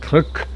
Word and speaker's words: Krk: I went to the island of Kirk, not to be confused with Cook Island.